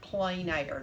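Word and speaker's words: plein air: using iod stamps of what i think is pronounced plain air that's not how p-l-i-e-n i think is how you spell it but you say it plain so we're going to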